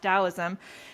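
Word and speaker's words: Taoism: is spelled taism with a t but it's pronounced dosm and that means effortless action or going with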